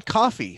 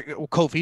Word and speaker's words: Ko-fi: We're now on Coffee. So, or Ko-fi, depending on how you pronounce it.